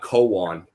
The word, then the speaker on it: Koan: way it's pronounced uh koan it is a okay yeah yeah yeah like a zen like a zen cone yeah yeah it has